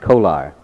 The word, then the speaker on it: Kolar: You pronounce it Kolar. Most people call you Kohler, don't they? But you like the Kolar?